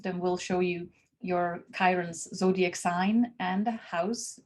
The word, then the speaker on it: Chiron: chart most of them will show you your kyren's zodiac sign and the house which is in